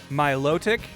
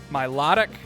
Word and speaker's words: Milotic: say this Pokemon's name is it Milotic mtic Milotic myotic like does it sound like melodic like Mel like a melody Milotic yeah I always say Milotic oh there's no Pokeball